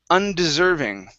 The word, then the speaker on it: undeserving: look here so um here we have undeserving okay stress right here okay and we're going to start off with an uh sound so undeserving and deserving